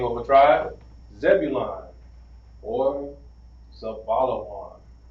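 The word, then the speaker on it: זבולון: Now here, Zebulon is going to be pronounced Za, Ba, Zabalawan. It's going to be pronounced Zabalawan.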